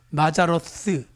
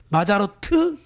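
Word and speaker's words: מזלות: 스가 TH 발음이에요. 그러니까 마자로스, 마자로트 해도 되고요, 마자로스 해도 돼요.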